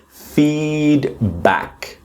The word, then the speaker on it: feedback: We've got feedback. Okay. Feedback with a strong syllable is the first one.